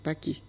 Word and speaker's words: Paki: Tous les mots français se terminant par E muet changent le E muet en I. C'est ainsi qu'au lieu de dire Pâques, ils disent Paki.